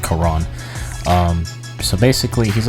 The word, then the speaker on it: Charon: little bit ago um his name is uh Quran or Chiron I can't say his name correctly because it sounds like kairon the hunter but it's basically just Quran um so basically he's